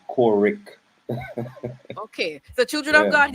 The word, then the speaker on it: Courick: all kinds of mispronunciations people call me corey q a correct and uh yeah i'm kind of crazy so every every chance i get i tell him my name is core rick okay the children of